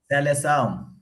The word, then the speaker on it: Seleção: How do you say that? Seleção? Seleção.